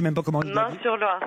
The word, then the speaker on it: Meung-sur-Loire: Meung-sur-Loire, c'est juste à côté d'Orléans. Meung-sur-Loire, on doit prononcer, c'est ça? Oui, tout à fait.